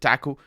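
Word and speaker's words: THAC0: I pronounce it TACO, because that's how I pronounced it since I was a kid, but it's a 0 at the end.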